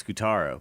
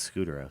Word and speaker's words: Scutaro: I always when I didn't hear announcers say his name and I just read it, I always thought it was Scutaro. But yeah, everybody says Scutero.